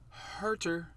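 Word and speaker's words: Kevin Huerter: card number what 10987 on the list kevin harter that's how you say his name 2018 prism silver pop count of only 268.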